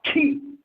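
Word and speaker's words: Qi: size, weight, and diameter, calling this planet now Key. Listen, phonetically pronounced K-E-Y, written Q-I.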